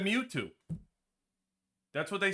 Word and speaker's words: Mewtwo: They didn't do one syllable. They said Mewtwo.